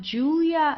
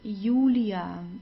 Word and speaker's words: Julia: lo and then we have the J which is pronounced like the English Y. So it's not Julia like in English. It's Ulia. Ulia.